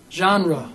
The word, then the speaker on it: genre: What genre would you call that music? I was listening to videos. Did you just say genre? Genre. Genre. Genre.